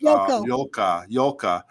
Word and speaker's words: Joke: Do you remember a Sea Org Dutch woman named Joke, pronounced Yolka, claimed to be a teacher on the Apollo, eventually left and started the cult school Mojave Academy?